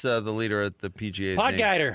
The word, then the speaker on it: Potgieter: Potgieter. He's South African, and it's crucial to use the he sound, a soft G, rather than a hard G. So pot heater.